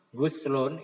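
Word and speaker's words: غُسْل: Biasanya kalau bacanya gin dibaca dah guslun itu biasanya mandi. Tapi kalau biasanya dibaca fatkhah goslun itu artinya membasuh.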